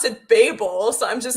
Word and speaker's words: Babel: know that Tower oh so it's Babel yes I've been pronouncing it wrong this entire time anyway don't worry it's